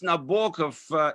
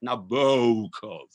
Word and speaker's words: Nabokov: He pronounced Nabokov in a very kind of Anglo-Saxon way, with the second O particularly rounded, like Nabokov.